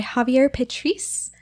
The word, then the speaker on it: Javier Petriz: has to say absolutely today we're joined by Javier petrice with the Cabell children group that is correct